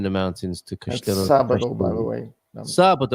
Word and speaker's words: sábado: sábado, by the way. Sábado. Of course it is, because the accent is on the A, James.